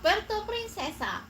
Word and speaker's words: Puerto Princesa: Puerto Princesa.